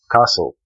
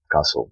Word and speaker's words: castle: Castle. Castle. The T is silent.